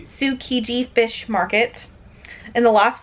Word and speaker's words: Tsukiji: Tsukiji. Tsukiji Fish Market.